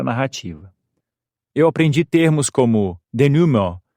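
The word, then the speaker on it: dénouement: decidido ou deixado Claro e se pronuncia denum do meu ponto de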